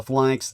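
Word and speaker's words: Phalanx: Uh flanks, it's spelled ph a lx.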